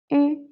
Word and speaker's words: 鱼: So actually, this one 鱼 is u with 2 dots, 鱼, and then add the tone, the second tone, rising tone, 鱼.